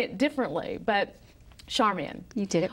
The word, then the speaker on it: Charmian: Charmian, welcome to Talk of the Desert. Thank you. You not only pronounced Liesl right, you pronounced Charmian right.